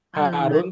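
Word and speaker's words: حارّ: Jadi ee rnya harus pakai tasjid. Harun. Harun. Susu itu panas. Heeh. H-nya panjang. Kemudian rnya ditasdid. Harun.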